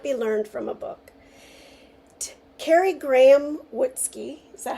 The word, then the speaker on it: Kari Graham Wutzke: Kari Graham Wutzke, is that how you say it?